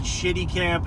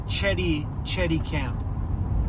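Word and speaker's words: Chéticamp: I always said Shitty Camp. It's Chetty Camp.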